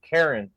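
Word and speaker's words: Charon: I said that wrong the ferryman was Karen that was the actual name it's spelled like Sharon c-h-a-r-o-n but it said Karen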